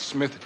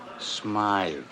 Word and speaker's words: Smythe: Hammer, I just got word that Smith Jewelers was held up again. That's Smythe.